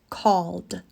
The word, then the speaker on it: called: Call ends in the L sound, which is voiced. L. So the ending is a D sound. Called.